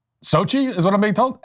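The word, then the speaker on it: Xochitl: you just can't it's SOI is what I'm being told how that's SOI that's how you pronounce that SOI say it again Sochi SOI hoha so the X sound is an S sound and then there's this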